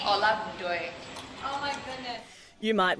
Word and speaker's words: Olagundoye: She is Toks Let's get her to pronounce it. Toksin, how do you say your last name? Olagundoye.